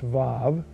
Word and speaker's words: vav: In simplest terms, the normal way of narrating sequence is to prefix a one-letter conjunction, the vav, it's spelled W-A-W but pronounced vav, prefixing that one letter to the verbs that occur in succession.